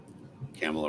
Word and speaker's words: Kamala: Kamala rhymes with Pamela.